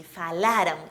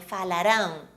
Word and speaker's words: falaram: eles falaram gente falaram Imaginem um acento antes da letra R falaram Imaginário né gente falaram ou também funciona muito bem alongando essa vogal que está antes do R fala muitos alunos pronunciam falarão Isso parece um futuro gente é falaram falaram